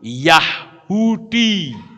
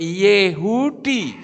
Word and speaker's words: Yehudi: Seperti orang bilang Yahudi. Itu yang betul Yehudi, saudara.